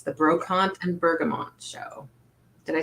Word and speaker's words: Bergamot: No one can say Brocante to Bergamot, and now I'm calling it a Sunday soiree. What's wrong with me? Well, some people say Bergamo, or they don't pronounce the T, so I just wanted to make sure.